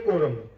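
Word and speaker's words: quorum: उसको कोरम कहते हैं। अंग्रेजी शब्द है ये कोरम सी यू ओ आर ए एम इसकी स्पेलिंग है कोरम। और उच्चारण मैंने बता दिया।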